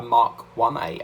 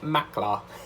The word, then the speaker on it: Mk1A: spitfire mark 1a and i am going to pronounce it right this time because i kept calling it mark okay do you remember when i kept calling it mackler built the spitfire mackler i remember that but